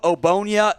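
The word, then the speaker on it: Ogbonnia: comp here it is otito obonya the g ignore it's not in there in the name at all then demarco jackson another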